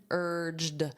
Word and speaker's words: urged: Notice that pronunciation, urged, because this ED is pronounced as a soft D. Urged. And it really sounds like just an er sound, urged.